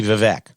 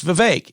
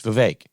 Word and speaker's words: Vivek: Donna Brazile calls Vivek Ramaswamy Vivek. And Maher corrects her and says it's Vivek. He did a rap. It rhymes with cake. It's Vivek.